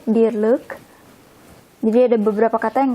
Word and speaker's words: dierlijk: Ini kadang kita bacanya like atau leuk. Untuk ini kita bacanya leuk, dierlijk.